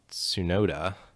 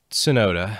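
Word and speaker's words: Tsunoda: alphatari we had yuki sunoda sonata so i should be able to say these japanese names having closed working at toyota but sonoda i believe is how you'd pronounce that he's replacing danny fiat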